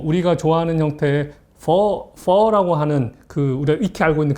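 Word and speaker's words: phở: 그게 이제 물음표 같은 이 표시가 되어 있는데 퍼라고 하는 이 성조. 발음할 때도 퍼 이렇게 성조를 하면 되는데요.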